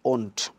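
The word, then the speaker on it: won't: সো উইলকে যদি উইলের সঙ্গে আপনি নট যোগ করে দেন তাহলে প্রোনাউন্সিয়েশনটা হবে ওন্ট, অর্থাৎ উইল নটের শর্ট ফর্মটা হচ্ছে ওন্ট।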